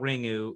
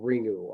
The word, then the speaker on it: Ringu: u is i mean the way you technically pronounce it would be like you know like the you almost doesn't exist but nobody's gonna do that so nobody can be faulted for saying ringu i mean everybody just